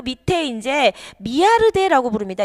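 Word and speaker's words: Millardet: 그리고 이제 그 밑에 이제 미아르데라고 부릅니다. 이게 이제 영어로 표기되어 있지만 이게 프랑스 식물학자에서 발음을 미아르데라고 합니다만, 어쨌든 이분도 이제 표도나무가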